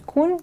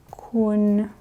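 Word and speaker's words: คุณ: То есть кун это ты. Тоже запишем. Так. Кун. Здесь у нас средний, да, средний тон.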